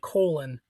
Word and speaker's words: Colin: I his his name is actually spelled like Colon or like Colin, but he says it like Colon.